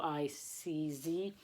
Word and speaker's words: Sienkiewicz: It's a Polish name, Sienkiewicz. It's Sienkiewicz.